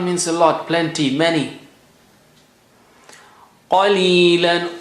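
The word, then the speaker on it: قليلا: Qalilan. Qa is high sounding.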